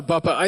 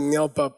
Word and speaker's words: dar la babpa: The next one is called dar la babpa (DAR LA BAB PA)-- I mispronounced it before--I said ngel bap, but the carving was wrong. It's dar la babpa.